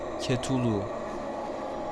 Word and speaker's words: Cthulhu: fotosundaki Yüce etkilerden biridir kutulu bu devasa boyutları ve ima ettiği dehşet ilk akla gelen özellikleridir isminin telaffuz edilişi tam olarak belirtilmemiştir ancak İngilizce'de bazen Cat Ulu gibi okunur bu uzunluğu ilk olarak